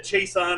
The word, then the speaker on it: Seisan: strong Louisiana accent, and every time he went to say Seisan, he said Chaeson, and we still pronounce it that way many decades later because of Sensei Kennedy.